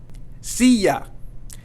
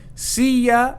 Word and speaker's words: silla: Silla. Silla means chair. And again here, it's not going to be silla because we have the two L's here.